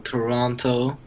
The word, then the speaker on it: Toronto: main man Zane from Toronto Toronto Ontario the six yeah you don't pronounce the second T oh my god learnt